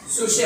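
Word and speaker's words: ψυχή: ये सोल का जो ओरिजिनल ग्रीक शब्द है सोल का, ठीक है, पी, ये शब्द आप लिखना, ठीक है, PSUCH। सुशे बोलते, पी साइलेंट है, न्यूमा पी से आगे।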